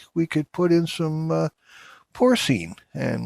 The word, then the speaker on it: porcine: I think the pronunciation would be with the N would be S-E-E-N. In pronunciation, that's not how it's spelled, but that's how, porcine, I think is the Latin way.